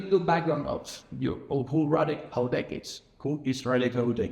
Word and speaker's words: Houdek: So, Radek Houdek, did I say it right? Houdek? Not really. Houdek. Houdek.